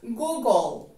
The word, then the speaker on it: Google: tengamos en cuenta que las dos ojos de la primera sílaba suenan como tú y vamos entonces a suprimir en la pronunciación light del final nos quedan la g y la l en medio de estas dos consonantes también agregaremos la letra o en la pronunciación nos queda entonces google goog el ángulo que se